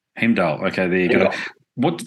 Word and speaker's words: Heimdal: stuff it up so you correct my my pronunciation uh he he heal h e i m d himal okay there you go what first of all